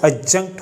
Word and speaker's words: adjunct: को देख सकते हैं, इस वर्ड में हमारा जो सेकंड लेटर होता है वो डी होता है, लेकिन जब हम इस वर्ड को प्रोनाउंस करते हैं तब हम लेटर डी को प्रोनाउंस नहीं करते। यहाँ लेटर डी साइलेंट होता है और इस वर्ड की जो सही प्रोनाउंसिएशन होती है वो adjunct होती है।